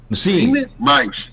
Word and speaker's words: Cinemais: Cinemais, como se fala, Cinemais, tá.